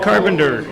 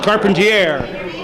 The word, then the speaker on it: Carpenter: Carpenter. Sometimes pronounced Carpentier.